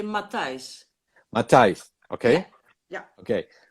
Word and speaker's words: Matthijs: I didn't know about Bob and Mathis. Is okay. Mathis is I'm saying it right. Well, in Holland we say Matthijs.